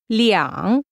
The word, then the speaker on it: 两: One note regarding the number two. When you use two as an amount, although the written word stays the same, the pronunciation changes to 两.